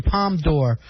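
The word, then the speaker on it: Palme d'Or: bad stuff about bush won the palm door is that how it's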